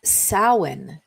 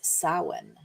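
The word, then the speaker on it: Samhain: It's sin, which is actually pron uh spelled s a m h a i n, but I have a little pronunciation note here that it's sin.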